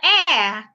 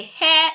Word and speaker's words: heir: The H in this word is silent. He is the heir to the throne. Not the hair to the throne.